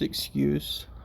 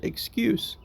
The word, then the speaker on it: excuse: We pronounce it excuse. However, if we use it like a verb, the spelling is the same, but we say excuse. And so the emphasis is on a different part of the word.